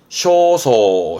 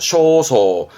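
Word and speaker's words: 焦燥: 것 초조함 있니다 초조한 거 애타는 겁니다 초조한 발음은 쇼소 쇼소 어떠한 초조한 느낌 초조 감이라 해서 소간 소간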